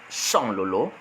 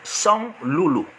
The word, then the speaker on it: Sanlolo: Alors, durant son allocution, dans son discours, au lieu de dire Sanlolo, il va dire Sanloulou. Donc, Ahidjo aussi a été incapable d'articuler le mot Sanlolo correctement, et il va donc dire Sanloulou. Et le nom est resté. Et aujourd'hui, dans les tests administratifs, dans les papiers administratifs, c'est Sanloulou. Ça devait être Sanlolo. Et ça doit être corrigé.